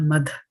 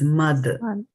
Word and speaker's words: mad: it becomes right so it is not mad it is mother mother right and then jeeves okay